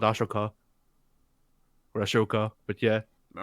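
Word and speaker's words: Ahsoka: Oh, also her name is pronounced Ashoka.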